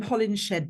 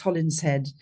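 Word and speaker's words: Holinshed: well people call him hollingshed but it's a Midland's name and it's actually pronounced holling head um Holland head was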